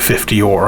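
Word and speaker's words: øre: it's pronounced or or it's more of a ur than an o e. So, I'm going to stick with 50 or I'm going to be an ignorant so and so.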